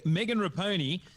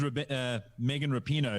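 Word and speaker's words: Megan Rapinoe: Okay, Megan Raponi. A little bit of artistic license, the name. It is Megan Rapino is how you pronounce it.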